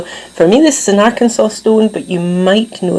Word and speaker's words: Arkansas: reading years ago that at some point in history the people in Ar- Arkansas had actually passed a law to say that you had to pronounce it as Arkansas.